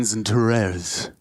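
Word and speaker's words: XANTARES: I'd be watching Zentares, as you can see him on the replay. I believe that is the official pronunciation.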